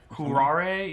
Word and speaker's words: Curare: Cuarae. Oh, that's like deadly poison, right? It'll incapacitate or debilitate somebody. I think I spelled it wrong on this sheet. Curare? Curare, yeah.